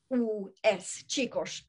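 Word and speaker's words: csikós: Det stavas C-S-I-K-O-S, Chikos uttalas det.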